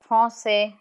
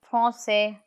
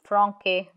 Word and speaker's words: français: When C is written as C with the cedilla or la cedi, it sounds as S. So let's look at some examples. Français, français. Without the cedilla, it would have been franquais, and that's not right. So français. Next, reçu, reçu.